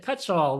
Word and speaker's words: Cutshall: have a fun guest today we have cutshaw with us today did I pronounce that last name correct you did it